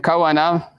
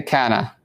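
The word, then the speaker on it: كان: The Arabs don't say it like this, right? The kawana, right, they say kana, which means, right, to be, or he was, right?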